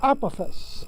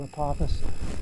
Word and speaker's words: Apophis: asteroid number 999 42 apophis now i pronounced this apophis for the longest time until i wrote a book and did a video about apophis um it's actually apophis uh a god of